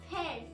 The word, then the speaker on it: पैर: In Hindi, we can actually pronounce leg in 2 different ways. One is pair, P-A-E-R, pair, and the other one is pao, P-A-A-O-N, pao.